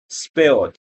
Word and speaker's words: spilled: leaning a bit too much into the E sound, like you're talking about spelling a word. For this No, one, no, keep it short.